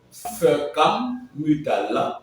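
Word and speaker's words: Foekam Mutala: Nous allons donc aujourd'hui avoir à notre compagnie Monsieur Fekam Mutala, voilà, c'est bien prononcé comme ceci.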